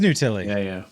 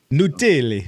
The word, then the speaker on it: Nutile: Yeah, it is Nutile. Yeah. I think you're saying it wrong. Maybe. My family says it with a lot more finesse, being from Italy. They really get the vowels right. Nutile.